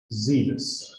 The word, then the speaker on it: zealous: time is up now the pronunciation was also wrong it's not serious it's zealous right full of z full